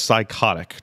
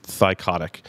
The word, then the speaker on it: Thycotic: Is it Thycotic or is it Thionic? I've heard it pronounced both ways. I think it's Thycotic. Yeah. When I first heard it, I thought it was Psychotic. Turns out it's not. It is Thycotic.